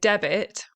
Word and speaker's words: debit: So with debit, we do pronounce the B because, why? Well, it's actually different from debt and debtor because there's no BT, okay?